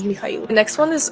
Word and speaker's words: Mikhail: Michael is definitely more common to hear in the States, but if you're meeting somebody and they're from Eastern Europe, chances are their name is pronounced as Mikhail.